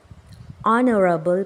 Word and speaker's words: honorable: r o sound okay honorable person so starting letter H but it's silent Honorable in the word